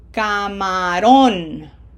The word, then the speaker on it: camarón: P E 1 camarón camarón You should feel your lungs making more of an effort for that syllable with pronunciation emphasis because we have to push more air out to give it emphasis.